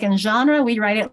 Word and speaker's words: genre: We were having a fun discussion about the word genre, because the G isn't necessarily a soft G, and it's definitely not a hard G. But what sound is? It's a French G.